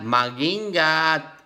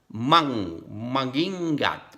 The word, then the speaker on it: mag-ingat: Mag-ingat. MG. Without pronouncing G. Mag-ingat.